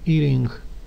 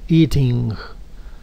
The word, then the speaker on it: eating: vamos a pronunciarlo eating y en inglés americano cambiamos esa t por una r muy suave eating eating Okay o una pronunciación más británica más internacional digamos que eating Okay comiendo recuerde que